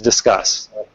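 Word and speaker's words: Disqus: our age and I it took a little while to find the def pronunciation I in my head still look at this a think but I see that discus discus oh that's a real well anyhow I the I track down there's a there's actually some Page by the CEO of this company where he definitively States the pronunciation is is discussed um so uh basically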